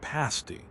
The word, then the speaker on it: pasty: Then, there's the pasty, pronounced with a short a like pasty, not like the thing burlesque dancers wear.